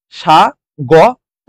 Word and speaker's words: স্বাগত: সেজন্য ও হয়ে গেছে স্বাগত স্বাগত আমরা কি শিখেছি যদি ব ফলা শুরুতে থাকে তার উচ্চারণ হয় না আর দন্তস টা তালব্যস হয়ে গেছে সাগ ত হয়ে গেছে যদি শেষে